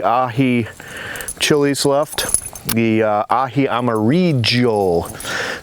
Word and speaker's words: amarillo: chilies left the Ahi Amarillo they pronounce the Double L with a J in the Amazon jungle region we also have some